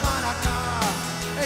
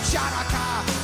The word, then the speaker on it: Hanukkah: Tell Darul Hanukkah, it's time to celebrate Hanukkah. It's not pronounced Chanukah. The C is silent in Hanukkah.